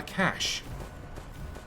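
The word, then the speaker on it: cache: call it a data cash it's good night class maduk all your pronunciation on Cas yeah Cas Cas whereas elsewhere in the world it's pronounced cash which I just thought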